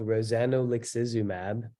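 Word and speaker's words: rozanolixizumab: called cosmog it's with a drug called rosanolixismab that's how you pronounce it but most people just call it rosumab because Rosanna looks asumab is a mouthful and these slides are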